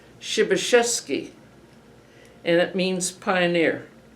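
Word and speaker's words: Przebeszvski: In Polish, it's pronounced shibasheski and it means pioneer.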